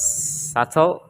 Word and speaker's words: subtle: to letter B so letter B is silent after the letter m and before the consonant T like in word supple like in Words subtle or doubt or De